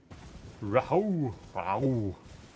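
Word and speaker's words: Rauh: Rahu. How would you even pronounce that? Ra. That doesn't even matter. The classic silent H.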